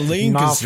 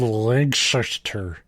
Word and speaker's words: Lancaster: Like I probably wouldn't even notice, but if you say it the wrong way, they'll be like, are you stupid, boy? It's Lancaster, not Lancaster. Not from around here, are you? It's called Lancaster.